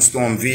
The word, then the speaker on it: Storm V: Special guest of the day, Pretty Money Records own Storm V in the building, right? The V is silent, right, y'all?